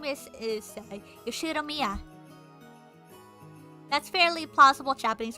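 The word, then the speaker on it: Ushiromiya: His name is, insert pronunciation here, pronounced Yoshiromiya George.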